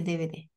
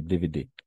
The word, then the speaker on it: DVD: J'achète les DVD. Les DVD. Oui, on va faire la prononciation à la française. DVD. DVD?